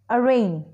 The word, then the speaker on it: arraign: to the next word arraign in this G letter is silent it means to accuse